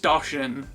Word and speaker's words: Doshin: One of the most obvious games to jump to that didn't come to the States is Doshin the Giant. It's pronounced Doshin.